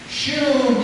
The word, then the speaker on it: Shu: shoe, and it rhymes with shoe, you know, like shoe. As we make jokes about shoe, we'll find out about that in a moment. Shu means follow.